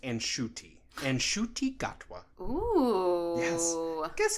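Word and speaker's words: Ncuti: his name is spelled NC UTI but it's pronounced and shooting and shootie got wa oh i guess how old that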